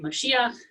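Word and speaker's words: משיח: figure generally speaking it means anointed and it's pronounced here in moshiach being on the middle syllable and i thought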